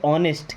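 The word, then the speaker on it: honest: Okay, अगर ऐसा बोलना है कि वह ईमानदार है तो यहाँ पे ऑनेस्ट क्या लगाते हैं, ऑनेस्ट, यहाँ भी एच साइलेंट है ना, ऑनेस्ट ईमानदार।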